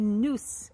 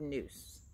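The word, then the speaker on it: nous: There is a noose in between the two.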